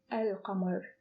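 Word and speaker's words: القمر: only added l to command and it became el camer el hammer but when it is attached to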